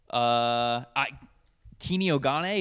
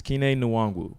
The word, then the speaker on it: Kene Nwangwu: Vikings, Kini Ogane, is that how you say his name?